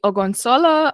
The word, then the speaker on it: Ogunsola: But today, I'm really pleased to have Deji Ogunsola. I hope I've pronounced your surname right.